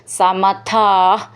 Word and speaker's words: സമഥാ: സമഥാ, ഇവിടെ വിസർഗമുണ്ട്. ദീർഘം പറഞ്ഞിട്ട് വിസർഗം പറയണം. സമഥാ.